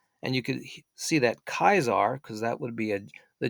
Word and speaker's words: Caesar: And he wouldn't have said Caesar. He would have said Kaiser. So there was no soft C. It would have been more of a hard K.